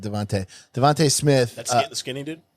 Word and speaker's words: DeVonta: winner at uh Alabama Devonta it's Devonte it's spelled Devonta I just said Devante Devante Smith the skinny